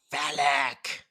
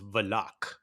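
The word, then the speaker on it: Valak: kind of cool how they did that it's phallic i was i was thinking i was like it was like actually no it's pronounced velak it's block like although the the wind and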